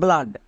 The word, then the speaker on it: blood: Double O এর ঠিক পরে যদি ডি থাকে তখন ডবল ও এর জন্য আ সাউন্ড হবে।